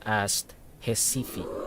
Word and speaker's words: Recife: we will be flying from Ascension Island to jesifi Brazil the spelling of hisifi is r e c i f e pero and I uh research the pronunciation it's pronounced asifi hey so we are multi-streaming on Facebook Kik